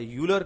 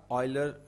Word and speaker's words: Euler: ان کو ہم local medium والے یولر کہتے ہیں، لیکن زیادہ صحیح تلفظ اس کا آئلر ہے، EULER آئلر لائن.